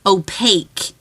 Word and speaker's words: opaque: I know I say it wrong. It's supposed to be opaque, like cake.